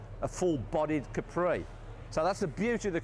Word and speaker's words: Capri: seen to be Capri what's that Capri Capri well that was the way we were all meant to pronounce it but of course it never turned out that way and when the car first came out and their management with Rania used to term Capri rather than Capri had a more exotic